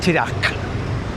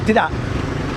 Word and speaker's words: tidak: Yeah, you don't say tidak. It's not tidak. It's tidak. Yeah, tidak. So, the the K almost comes out, but it's not quite. But, it's not a silent K.